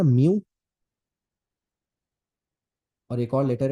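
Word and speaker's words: μ: हाउ to pronounce it, we pronounce it म्यू।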